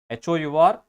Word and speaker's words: hour: HOUR അവർ എന്ന് പറയുന്നതിൽ ആ ഇസ് the sound, H is silent, so sound is vowel. An എന്ന് പറയണം, an hour.